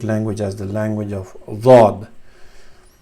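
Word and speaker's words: ض: It's pronounced very it has a difficult sound source, but we'll come to that later. Many people you can consider it close to dal and zal or dal, mix of these two, but the sound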